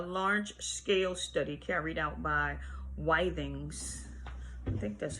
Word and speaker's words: Withings: Anyway, the first, a large-scale study carried out by Withings, I think that's how you pronounce it, Withings, W-I-T-H-I-N-G, in collaboration with the Georges Pompidou Hospital